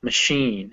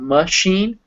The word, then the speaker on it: machine: Yeah, machine. And remember to really underpronounce that schwa. So it's not machine, it's machine.